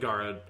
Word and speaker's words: Garrod: like it's a really it's a name that doesn't seem like it should be hard to pronounce but i just find saying it with a standard english pronunciation feels very weird so yeah so we're just going with garad but the story of